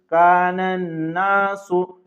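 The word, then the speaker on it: النَّاسُ: आगे देखिए कानन नासु कानन नासु यहां पर गौर कीजिए रूफे शमसी में से नून आया है तो ये अन् नासु का नून आया है तो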